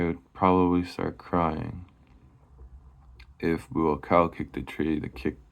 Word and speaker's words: Buakaw: I believe that's how you say it. Buakaw. Yeah, that's how you say it. Buakaw.